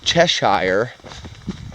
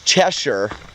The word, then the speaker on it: Cheshire: Oh yeah, it's Cheshire, but there's an E at the end, so it's Cheshire. I don't care what the locals pronounce it like. I know my spelling. I'm a great speller, so that's how that's pronounced.